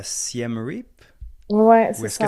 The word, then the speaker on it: Siem Reap: habité comme 2 ans à Siem Reap? Ouais, Ou c'est est-ce que ça ça. se prononce comme ça? Exactement. Alors, en français, on va plutôt dire Siem Rep.